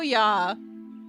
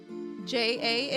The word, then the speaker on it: ja: J A in German is pronounc pronounced yah. Oh, okay. So, you mean pronouncing it yah instead of ja.